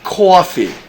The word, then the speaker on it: coffee: how to say that coffee so it's coffee coffeee coffee you want some coffee in the morning